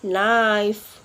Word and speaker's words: knife: letter key letter k in letter K we not pronounce it when it comes before and word for example like knife no need knock knock